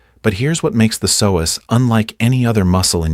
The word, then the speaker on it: psoas: It's pronounced psoas, and it is one of the longest, most powerful muscles in the entire human body.